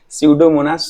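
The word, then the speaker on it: Pseudomonas: स्यूडोमोनास सोलेनेसियरम, स्यूडोमोनास, ये bacteria का नाम है स्यूडो, PSEUDO, यहाँ पे P साइलेंट है।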